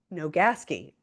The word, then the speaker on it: Nogaski: Now, I'm gonna say your last name wrong. I'm like so focused on it. Nogaski, you got it.